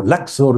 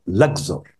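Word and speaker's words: Luxor: शहर का नाम है अक्सर इंग्लिश में उसको लक्सर भी कहते हैं एल यू एक्स ओ आर लक्जर अरबी में उसको अक्सर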